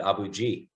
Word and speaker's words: Abu Ghraib: pronunciation yeah it's um we call it abu ghraib but um we also called it abuji so you know what